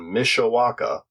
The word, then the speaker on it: Mishawaka: toys and comics in Mishawaka Indiana waka waka yeah I like that I'm pretty sure it's pronounced just like waka waka oh it is the